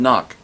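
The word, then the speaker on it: Nauck: It's Todd Knock. That's how it's pronounced, by the way, in case you're wondering.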